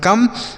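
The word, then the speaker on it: come: जैसे सी से हो गया क और ओ का उच्चारण अ होगा तो इसको हम लिखेंगे नहीं।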